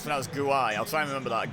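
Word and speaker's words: Guéhi: made a mistake there Guai apparently it's pronouns Guai I'll try and remember that gner on and Mitchell off Palace and Redal pronounced yellow card for Jack Harrison okay I'm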